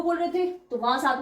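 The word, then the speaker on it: trente: अलग बोलते हैं टी को मैंने बताया था थत बोलते हैं टी आर ई एन टी ई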